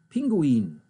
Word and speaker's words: Pinguin: which i pronounce correctly i will pronounce it the german ways it's an i in there pinguin this is a pinguin